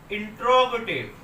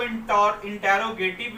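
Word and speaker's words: interrogative: अब दूसरे नंबर पे हम देखेंगे इंट्रोगेटिव। इसको इंटेरोगेटिव भी पढ़ते हैं कुछ लोग, लेकिन इसकी राइट प्रोनाउंसिएशन है इंट्रोगेटिव।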